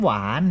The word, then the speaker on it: หวาน: เขา แม่ ครับ น้ำ หวาน เห็น ไหม ครับ ออก เสียง พยางค์ เดียว คือ อะไร ครับ หวาน เค้า ออก เสียง วอ แหวน นะ ครับ ไม่ เอา เสียง หอ หีบ นะ ครับ แต่ ว่า เสียง วรรณยุกต์